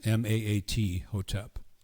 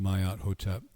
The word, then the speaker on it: Maat Hotep: Mayat Hotep. It looks like Matt, Maat Hotep, but it's pronounced Mayat Hotep.